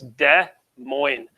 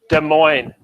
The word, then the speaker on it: Des Moines: And we actually, it's a silent S in both of those words. So it's Des Moines. Please repeat after me. Des Moines. Yeah, so a lot of silent S's in the name of that capital.